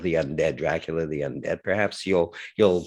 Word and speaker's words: Dracul: believe it's called dracul that's how i would say it as a montrealer perhaps a canadian would say or an american might pronounce it differently but i would say dracula dras without dracula without the a at the end um pretends to be